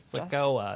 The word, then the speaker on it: Sikoa: Sorry, Sikoa. I said it wrong. It's not a sequoia. It's not a tree. It's not the tree.